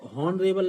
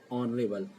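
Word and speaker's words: honourable: इसको हॉनेस्ट नहीं पढ़ा जाता, ऑनेस्ट पढ़ा जाता है। ऑनर ऑनरेबल नहीं पढ़ा, हॉनरेबल नहीं पढ़ा जाता, इसको ऑनरेबल। इसी प्रकार से और भी शब्द होते हैं इसके एच से जो प्रोनाउंस होते हैं, जो एच से बनते हैं लेकिन एच से प्रोनाउंस नहीं किए जाते हैं, तो इसका ध्यान रखें।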